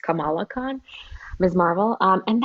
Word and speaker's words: Kamala: muslim superhero kamala khan actually it's pronounced differently from kamala harris and i keep getting screwed she's her name is actually pronounced kamala khan miss marvel um